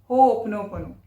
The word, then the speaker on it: Ho'oponopono: इसका exact pronunciation ऐसे होता है। हो पोनो पोनो हो ओपनोपनो।